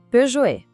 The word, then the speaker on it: Peugeot: E olha só como aqui fica bem claro. Do lado esquerdo tá o erro mais comum que a pronunciar o T no final. E do lado direito, o jeito certo, onde o T some e deixa o final bem suave.